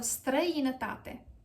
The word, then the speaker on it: străinătate: So the correct pronunciation is stră, i, nă, ta, te. Străinătate. Străinătate. străinătate. If you said străinătate, that's not correct. So străinătate.